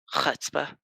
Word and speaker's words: chutzpah: Chutzpah. Yeah, that's how you say it. Chutzpah? Like, I thought it was Chutzpah. I don't know though. No, it's chutzpah. Chutzpah with the like fancy sound, like Hanukkah.